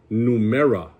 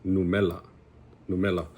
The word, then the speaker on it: numera: The word for number is numera, right? But we all, like, 9 times out of 10, it's gonna be, you'll hear it as numela, right?